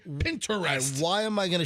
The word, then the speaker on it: Pinterest: It's like interested. Nobody says that. It's Pinterest. It's not Pinterest. It's not Pinterest. Nobody says Pinterest. So why it's not a 3-syllable word.